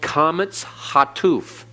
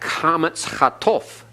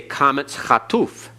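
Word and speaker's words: qamets hatuf: out that the sound, you'd expect comets hatof, but they say comets hatuf. That's because in some words it's more of an O sound, in some words it's more of a U sound, but they're all short.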